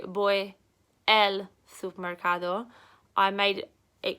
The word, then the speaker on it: voy: I go in Spanish you literally just say boy so it's like girl or boy it spelled vo y but you put out sit boy because in Spanish they pronounce their visas B's so for example if